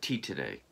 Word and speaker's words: Titane: her second film and i've heard it pronounced a number of different ways but what i've always called it is uh tea today which is the french word for titanium uh yes this is